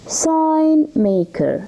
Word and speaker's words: sign maker: Now, sign maker. Sign maker. The G here is silent, okay? Sign maker.